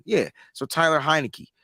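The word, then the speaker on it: Heinicke: you say his name hi Nikki right like Heineken yeah so Tyler heinecke right so you're going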